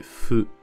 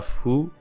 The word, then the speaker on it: ふ: fou fou en français sauf que la prononciation c'est pas fou c'est feu feu un peu entre